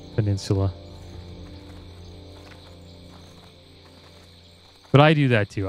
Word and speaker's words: Peninsula: us to call it Hellfire penuela like what the the heck are you talking about it's how he pronounced uh Peninsula but I do that